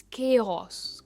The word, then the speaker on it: chaos: Next है केओस, के पर इसका स्ट्रेस है, इट्स केओस।